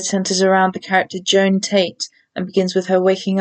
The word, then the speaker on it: Tate: This character's name is Joan Tate, Tate which rhymes with Kate, and Joan as in Joan of Arc, the Catholic saint who is remembered for wearing masculine clothes.